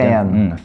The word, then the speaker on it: fan: F 발음은 아랫입술 살짝 물어야 돼. Fan.